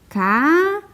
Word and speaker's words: café: descobrir qual é a sílaba tônica da palavra sílaba mais forte né então por exemplo na palavra café café vamos chamar o café somos não tem comida